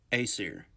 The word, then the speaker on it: Aesir: Aesir. That's how you pronounce it.